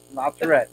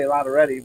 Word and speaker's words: La Tourette: La Tourette, yes. I always used to say Lotteretti, but I was corrected. That's not how you say his name.